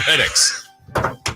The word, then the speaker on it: Redick: Reddicks. Cool. Reddicks. Is that how you say it, Chris? Yes.